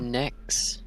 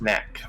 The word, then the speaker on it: Nak: Yeah, we had to guard a bunch of necks. We have to, don't we? Yeah. Necks. Yeah. Necks. And Nax? Am I saying it right? Necks? Necks. Knack.